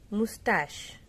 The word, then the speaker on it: mustache: Then mustache. Mustache. Mustache means मूछे. So many of the students pronounce it wrong. Mustache. No, not tach. It is not ch, it is sh. So mustache.